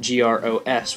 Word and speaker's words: gros: number is grow which is spelled g r oos with a silent s and it's short for